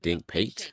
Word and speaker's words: Dink Pate: Oh, I've been saying his name wrong. They said Dink Pate.